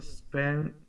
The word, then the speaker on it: spend: spend doesn't have e at the beginning, so you don't have to say an e here, right?